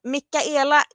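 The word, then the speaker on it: Michaela: Yeah, the CH it's a K. Mikaela. Mikaela. Yeah, that's what we would say in Sweden. It doesn't matter if it's, spelt with the CH or with a K or a CK. It's all the same to us.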